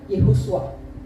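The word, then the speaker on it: ישוע: Dari bahasa Ibrani, Yesus itu bacanya Yehusua.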